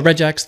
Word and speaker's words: regex: you can think if you pronounce like, you know, regex there or regex, if you want to do like a hard g, you can just think of that.